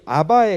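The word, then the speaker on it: אבא: 이게 그 당시에 이제 언어로 보면은 발음이 아바의 가까워요 아바의 가까운데 그래서 그 히브리 아이들이 아빠를 이렇게 부르면 우리 아이들이 이제 우리나라 아이들이 아빠를 부르는 뭐 하고 발음이 거의 비슷해요 아 1 참 신기하죠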